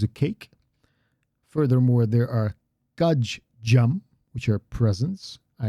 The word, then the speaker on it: kajjam: Again, there's a little pause there, and I exaggerated the pause a little bit this time, but it's kajjam, kajjam. There's a little pause in there. Both need to be pronounced.